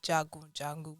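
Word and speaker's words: Jagun Jagun: was a new movie released on Netflix called Jago jungle what is that pronounce it correct yes very correct the warrior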